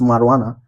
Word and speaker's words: marijuana: It's between, since it's pronounced marijuana, it means that the syllable should be here. Ma. So ma is the stress syllable.